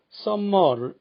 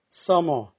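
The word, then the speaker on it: summer: 영어에서 겹자음은 하나만 소리낸다는 규칙을 잘 지키지 않아서 콤마, 햄머, 썸머, 런닝 소리를 자주 듣습니다. 카머, 해머, 서머, 러닝 하면은 원어민과 꼭 같아지는데 잘 안 고쳐집니다.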